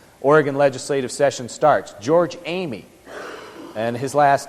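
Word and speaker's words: Eighmey: as our oregon oregon legislative session starts George Amy and his last name is spelled e i GH m ey George amy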